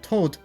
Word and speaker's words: Tot: For example, the over-the-top use of morbid code names like morg, funeral, and tot mispronounced as Todd here, could be seen as pretty cringe.